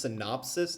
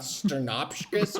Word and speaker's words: synopsis: It's been noted that you're interrupting constantly, and also Tom, it's pronounced synopsis, not sternopskis or whatever the hell you said.